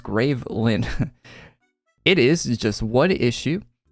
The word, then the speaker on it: Graveland: A year or so ago, we finished a comic book for Adventure Quest Worlds called Graveland, pronounced Gravelin.